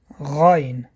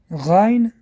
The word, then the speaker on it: Гайн: Следующая буква – это буква Гайн. Гайн образуется в верхней части горла.